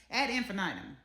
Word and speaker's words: ad infinitum: over and over again ad infinitum, okay? Ad infinitum, however you want to pronounce it, with a long vowel I or a short vowel I, it's the same thing, and it's giving we the people.